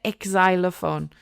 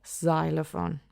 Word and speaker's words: xylophone: But X in English, we don't say exylophone. So, we just say xylophone.